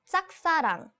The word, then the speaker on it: 짝사랑: It's 짝사랑. 짝사랑. Right. This the pronunciation of 짝 is not easy. In romanization, we just say JJ. Yeah, I know. But it's not easy.